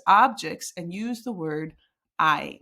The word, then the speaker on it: hay: So start looking at your or things, objects, and use the word I. Remember that it's pronounced like this, I.